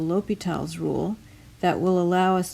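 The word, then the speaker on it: L'Hôpital: called a l'hopital's rule it looks like l'hospital's rule but the S is not pronounced and this is a French name so l'hopital is how we say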